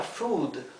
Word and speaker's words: food: Pero todas las demás palabras que conozco se pronuncia la doble O como la U.